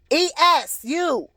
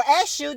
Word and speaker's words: Esu: Eshu, or Esu, E-S-U, Eshu, and Yeshua. You get what I'm saying? So everything came from something. So, if you don't know who Esu is, or Eshu, depending on how you want to pronounce it,